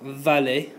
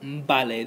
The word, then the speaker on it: vale: And the other one is the V and the B often sound exactly the same. So for example, vale, which is spelt like this, doesn't sound like vale, but vale, that V and the B sound the same.